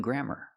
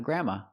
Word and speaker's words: grammar: of the language including grammar. Again, we're we're going to go. We're going to go through every section of the language including grammar. Grammar, not a grandma.